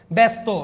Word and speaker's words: ব্যস্ত: ব্যস্ত, জফলার পর আকার নাই, আপনাকে এখানে করতে হচ্ছে, ঠিক আছে?